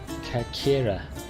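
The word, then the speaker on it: Κέρκυρα: Athens, Athena are very similar, but Corfu's Greek pronunciation is Kakira.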